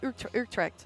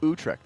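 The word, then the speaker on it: Utrecht: Urect. Utrect. Urect.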